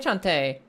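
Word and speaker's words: Cante: And uh her name Chante, spelled C A N T E. Chante. Maybe that's not immediately phonetically obvious how you say it, right?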